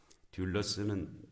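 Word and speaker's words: δοῦλος: 돌로스하고 비슷한 말이 둘러스라는 말이 있습니다. 둘러스. 이게 D 알파벳을 그냥 영어로 읽으면 DOLOS 돌로스인데 이 둘러스는 DOULOS U자가 하나 휩실론 U자가 하나가 더 들어가요. 발음이 돌이 아니라 듀울로 되는데 듀울러스는 종이라는 뜻입니다.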